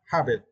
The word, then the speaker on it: habit: For this words, we need to stress the first syllable. Habit.